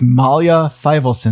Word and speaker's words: Malya Feivelson: to solo to CEO we're sitting here with Malia Filson did I pronounce that correct yes perfectly amazing Mia tell